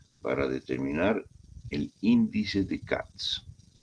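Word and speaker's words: Katz: determinar el índice de cats. CATS se escribe K A T Z.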